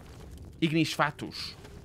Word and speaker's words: Ignis Fatuus: Ignis Fatuus would be the proper pronunciation.